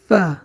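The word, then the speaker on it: ف: গইন তারপরে হরফটি হচ্ছে ফা ফা অর্থাৎ আলিফ পড়ার সময় যে উচ্চারণটা আমাদের হয়েছিল উপরের দুই দাঁতের আগার সাথে নিচের ঠোঁটের পেট লেগে আমাদের উচ্চারণ হবে ফা সামনের উপরের দুই দাঁত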